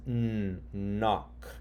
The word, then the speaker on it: knock: Okay, so KN says knock.